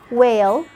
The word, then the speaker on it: whale: Another case for the H when it comes with a W at the beginning of a word. Sometimes we only pronounce the sound of the W. Like when you say while, whale, when, why. If you have any other